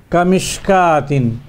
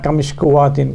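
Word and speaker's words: كمشكاة: So we cannot pronounce the waw, we have to pronounce only the alif. Kamishkatin, it's not kamishkuwatin, kamishkatin, because the alif is placed right on top of the waw.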